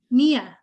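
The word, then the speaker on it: Ngia: off me how do you say that oh Mia oh that's beautiful okay and Mia if you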